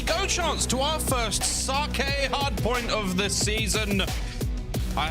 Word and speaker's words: sake: And here in America, it's sake. You know, like, oh, for Pete's Sake. Not like that.